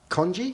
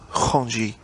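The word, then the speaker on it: Khondji: for this film darius congi is that how you pronounce his certain i believe it's hanji but uh no i don't know how you pronounce it um he's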